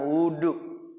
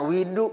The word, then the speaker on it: وضوء: Makanya kita sering bilang wudu, bukan widu, bukan wadu. tapi apa? Wudu. Wawunya dibaca dhammah.